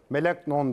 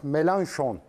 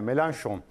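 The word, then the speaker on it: Mélenchon: Az önce dedim ya Jean luk melon dedim Jean L melanson diye okunuyor fatur yazmış Fransızca bilenler mi melan şon peki Buyurun Pardon hoc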